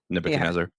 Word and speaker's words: Nebuchadnezzar: You have to say that word fast, or you're going to mispronounce it. That Nebuchadnezzar.